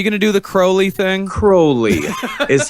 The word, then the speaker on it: Crowley: created specifically from 1972 to 1976 but Aleister Crowley also believed that are you gonna do that now are you gonna do the curly thing Crowley is how you pronounce it la ster yeah